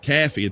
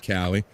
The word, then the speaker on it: Caffey: famous Kansas country bumpkin, Caffey. Thank you, Don. I know I was saying it wrong when I said Cowie.